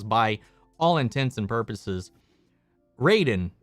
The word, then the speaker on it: Raiden: all intents and purposes raiden in mortal kombat should be pronounced ryden but no one does no one says that